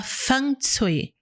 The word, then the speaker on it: Feng Shui: Se fala Feng Shui. Feng Shui. Essa é a pronúncia mais ou menos correta, né?